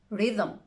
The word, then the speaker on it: rhythm: Let's look at the other rare examples in which the H is silent. Choir, echo. Now with the G, ghost, and with an R, rhythm, rhyme. Good news, the I is not usually silent.